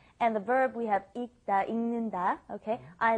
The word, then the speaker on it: 읽다: 읽다, because when it is followed by a consonant, then you must not pronounce it fully. You don't bring up the L sound, so it becomes 읽다